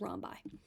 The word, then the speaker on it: rhombi: get you guys a heads up rhi um is the plural form of rhus so if you see the word that looks like this that just mean that there are multiple rhombuses that's the correct way to say it is Romi so um we're going